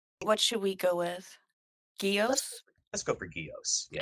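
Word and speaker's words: Gyaos: They call him Gauss in like the American dubs, as we see on MST3K, and the Japanese cuts refer to him as Gios. What should we go with? Gios?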